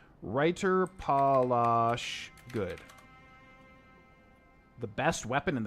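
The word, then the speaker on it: Reiterpallasch: Oh, there's no S there. So it's Reiter Palash. I've been mispronouncing this the whole time. Reiter Palash.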